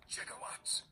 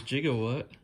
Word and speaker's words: gigawatt: calls me chicken 1.21 gigawatts amazingly they mispronounced gigawatt in the film as jiggawatt because giga wasn't used that much back then multiple times